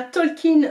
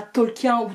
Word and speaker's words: Tolkien: de stéphanie on a talking roi de la fantaisie petit aparté ça se prononce bien talkin et pas talk yahoo tolkien hashtag prof d'anglais donc